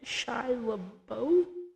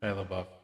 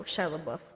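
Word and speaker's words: LaBeouf: Audio commentary with director DJ Carus Shilabo. How do you say it again? Shabbuff. Oh, Shilab Buff.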